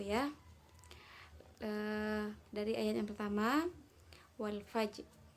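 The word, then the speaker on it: والفجر: Dari ayat yang pertama, wal fajr. Alif lam di situ bertemu dengan huruf fa, maka disebut idhar qamariyah. Maka bacanya terang ya, tanpa ditahan. Wal fajr.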